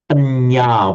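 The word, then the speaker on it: paññā: Now, we all know the word panya with a long a, meaning wisdom.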